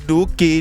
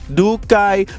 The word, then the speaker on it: Dookhi: Spell it Dookhi. Pronounce it Dookie, not Dookai.